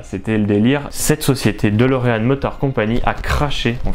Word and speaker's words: DeLorean: vous connaissez la fameuse DeLorean. Alors il y en a qui disent DeLorean, moi je disais DeLorean avant, et ça s'écrit DeLorean, donc D-E-L-O-R-E-A-N.